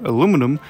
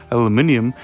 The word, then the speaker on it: aluminium: some veljo metal color aluminum or if you're not from the us it's you know you pronounce it as aluminium but here you can